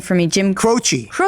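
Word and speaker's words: Croce: Jim Crochi. Crochi. Is it Crochi? I was always saying Croach.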